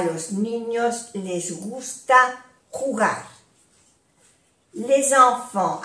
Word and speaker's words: les enfants: Les enfants, aquí hacemos la unión. Les enfants. Les enfants. No se pronuncia la S de plural.